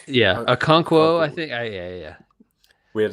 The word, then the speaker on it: Okonkwo: Okonkwo. Okonkwo.